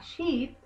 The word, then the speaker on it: sheep: Interesante la pronunciación entre sheep, oveja, que es bien larga la letra I, y ship, cuando decimos barco. Ship, barco, oveja, sheep, un poquito más larga.